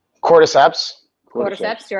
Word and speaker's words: cordyceps: mate the limitless lions mate the super human criboceps did i say it right cordyceps quarter steps you're right that's it got it